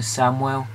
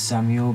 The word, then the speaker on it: Samuel: But the second center back now going to have is Walter Samuel. Says Samuel, but it's pronounced Samuel.